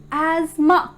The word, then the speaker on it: asthma: and it must be pronounced as asthma asthma a s m u h ma asma so here the is silent it's asthma let's have an example